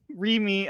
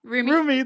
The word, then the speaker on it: Rumi: that he like everything in his past, while Rimi, oh my god, how do you say her name? Rumi, thank you.